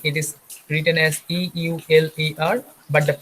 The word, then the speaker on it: Euler: can see the spelling it is written as e u l e r but the pronunciation will be euler okay so mathematician euler